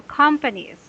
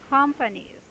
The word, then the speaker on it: companies: right now and no and companies you have to put your racing voice at the second syllable I mean first syllable companies okay companies companies yes very good